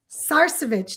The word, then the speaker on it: Sarcevich: Tina Sarcevich, did I say it right?